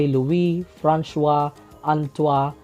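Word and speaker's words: Louis François Antoine: the year 1800 by louis franchua antoi and this is the french pronunciation of his name in his work on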